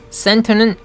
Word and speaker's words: center: center는 center라고 안 하고 t를 죽여서 center 이르죠.